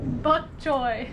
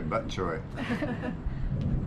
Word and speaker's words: bok choy: And bok choy is not that hard to pronounce. Bok choy. Bok choy. I thought you were going to say butt choy.